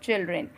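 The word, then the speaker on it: children: चिल्ड्रन, डी की आवाज़ बिल्कुल ही कम हो जाती है और ना के बराबर हो जाती है और इसे कहेंगे हम चिल्ड्रन।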